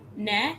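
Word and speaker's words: ναι: Ne, Or and then no what's is or?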